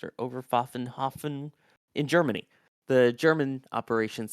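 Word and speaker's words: Oberpfaffenhofen: controlled from Overpfaffen, I believe is how it's pronounced, or Overpfaffenhofen in Germany, the German operations center, controlling all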